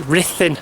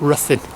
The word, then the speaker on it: Ruthin: h i n but the U is pronounced I not uh so it's Rin and not Rin anyway this is the